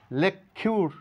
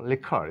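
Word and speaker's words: liquor: করতে হবে কিউ কিউ তাহলে এখানে লেখিউর না বলে বলবো লেখার এখানে কিউ এর কোন সাউন্ড নেই লেখার তৈলস তরল পদার্থ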